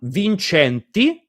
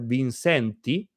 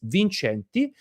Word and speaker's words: Vincenti: So now we are at Don Vincenti is the original pronunciation, but if you're American, probably you call yourself Vincenti. But the original pronunciation is Vincenti, which is very, very.